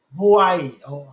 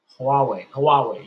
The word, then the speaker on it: Huawei: Think of Ripple like a goddamn Hawaii, however you pronounce that company's name. Huawei, yeah, that's how you pronounce it.